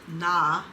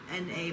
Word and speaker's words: Na: So Hwasa has come back with a new song called Na, N-A, but you say it like Na.